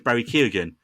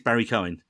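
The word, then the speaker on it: Barry Keoghan: pronounce Barry Cohen because we always thought it was Barry K again and apparently it's Barry Cohen okay if Google translate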